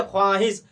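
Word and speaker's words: خواہش: जैसे में हो गया ख्वाहिश। जैसे हम ख्वाहिश तो ख्वाहिश तो पढ़े लेकिन इसमें वाव वाजे तौर पर जाहिर नहीं किए। सीधे हम पढ़ दिए ख्वाहिश वाव साइलेंट हो गया।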